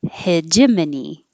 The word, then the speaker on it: hegemony: hegemony isn't that crazy it looks like hegemony for sure but hegemony hegemony this is a name